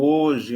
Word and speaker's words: hoje: Nós veremos daqui a pouco que há uma palavra como hoje, homem, elas são grafadas com H, mas você não pronuncia o H.